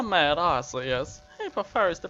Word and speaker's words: Arceus: Arceus, Chansey, Blissey, Charmander, Dratini, Gardevoir, Geodude, Golem, Gyarados,